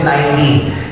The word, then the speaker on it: Nike: Yung pronunciation sa Google is Nike.